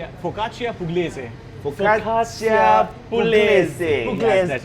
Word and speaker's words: Focaccia pugliese: Kevin, pronounce it again. What did he say? Focaccia pugliese. Focaccia pugliese.